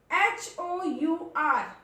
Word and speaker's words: hour: H is there but it is silent. R. Hour.